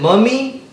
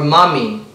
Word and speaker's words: mummy: how do you pronounce m-u-m-m-y is it mummy or mommy m-u-m-m-y like a mummy like the movie mummy it was definitely the